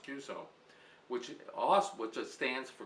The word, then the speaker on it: QSO: cues actually stands for qso or cues pronounced cue so which also just stands